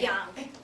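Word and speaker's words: Jungck: right into how do I say your last name because it's spelled j u n g c k so try to scary that correctly just young young young okay okay and she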